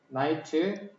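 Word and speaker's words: knight: 아 나이트 K가 묵음이지. 그래서 이게 나이트야.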